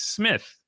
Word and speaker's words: Smyth: It's But you're pronouncing it like an I. Just pretend it's not even there.